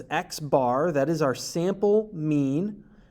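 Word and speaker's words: x̄: here at the top we pronounce this as xbar that is our sample mean and in this case it is 129.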